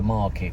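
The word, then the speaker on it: MRKT: then you got the market, which is spelled M-R-K-T. It doesn't have vowels in their name. It's called Market on Main, or M-R-K-T on Main.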